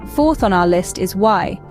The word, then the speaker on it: y: on our list is why pronounced as the English letter e it's the Spanish equivalent